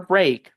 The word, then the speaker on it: break: Pero en la palabra break, la y la a suenan e, igual que en la palabra grade, por excepción.